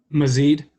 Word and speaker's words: Mazeed: And Mazid, am I saying that right? Yes, that is the correct.